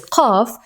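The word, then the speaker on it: قاف: This is the name of it is qaf, but the pronunciation is q.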